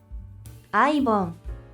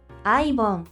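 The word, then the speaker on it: アイボン: 그리고 또 발음 한번 들어 볼게요. 아이봉. 아이봉 아이봉이라고 있습니다.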